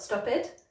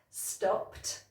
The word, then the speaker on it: stopped: With our next set of words, the problem comes at the end because it should be a T sound, not an extra syllable. Let me show you what I mean. So we've got watched, not watched, watched. And stressed, not stressed, stressed. And then stopped, not stopped, stopped.